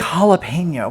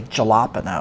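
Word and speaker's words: jalapeño: is Hispanic and um the J is silent or it's like a H and H or a silent kind of sound like like jalapeno we don't we don't say Jalapa no or jela P no and it was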